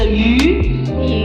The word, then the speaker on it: 鱼: Because in Chinese, the fish, the pronunciation is 鱼. 鱼 just means a lot.